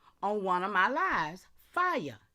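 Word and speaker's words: FIAI: Fire. F I AI. Foundational indigenous American Indian, y'all. Pronounced like fire, but it's fire. Huh? Come on. It's Foundation Indigenous American Indian pronounced as fire.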